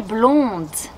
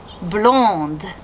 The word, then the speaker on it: blond: that play great ellie blond blonde did you notice that blond blonde in french the consonants at the end of words are usually going to be silence however when the word